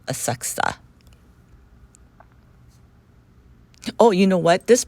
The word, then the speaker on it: Asakusa: on our way to aaka but I think it's spelled asakusa a a k USA but um from what I hear some people call it aaka oh you know what